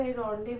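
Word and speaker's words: rendezvous: the correctly spelt word तो यह रडे य रेंस आपको देखने से लगेगा लेकिन इसे रव कहा जाता है रंड मतलब मीटिंग जैसे पहले टीवी में शो आता था रडे सिमी गरेवाल तो उसका स्पेलिंग यह होता था लेकिन उसका प्रोनाउंस रडे होता है सेकंड है यह वाला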